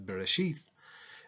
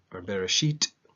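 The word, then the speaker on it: בראשית: Old Testament is a berry sheath and the Bereshit if you use the modern hebrew pronunciations the second book is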